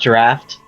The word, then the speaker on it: draught: It's actually pronounced draft.